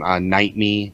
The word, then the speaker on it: Niteme: Niteme is how you say it. It's pretty much like Bite Me, but you replace the B with an N as a Nancy.